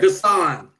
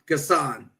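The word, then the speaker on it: N'Guessan: Max Johnson go ahead gasan gasan yeah it starts with the N N I know it's silent it's silent yeah yeah yeah gassan David gasan thank you and then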